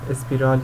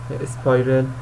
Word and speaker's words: spiral: تنظیمات اصلی خود استراتژی این گزینه اینجا به دردم میخوره اسپیرال یا تلفظ درستش اسپایرل این حرکت‌های دورانی داره